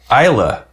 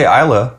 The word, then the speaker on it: Islay: 10 years 100 Proof we say Isa maybe you say isay maybe you say Isla how how you how are you supposed to is how how are you supposed to pronounce that it's Isa come to find out and uh you know